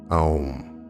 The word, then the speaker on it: om: to make a mistake take the sound om pronounced as a um om it is said in